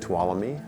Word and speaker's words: Tuolumne: it's a Native American word so we say to all me to Alla you and they take that home